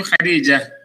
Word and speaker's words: Khadija: But because of the ta, you don't pronounce the ta. Instead, you pronounce it like a ha. Kursiyu Khadija.